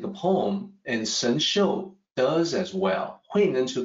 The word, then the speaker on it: Shenxiu: And I realize that this Shang XIU is probably hard to pronounce, but actually it's easy to pronounce in Mandarin, Shenxiu. It's just that it's not phonetically depicted in a way that's easy for a native English speaker.